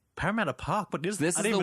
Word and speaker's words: Parramatta: Parramatta. Yeah. Okay. Is like an hour out on the train out of Sydney. Get out of here. And I was like, first I was like, Parramatta Park, but this is the one that's like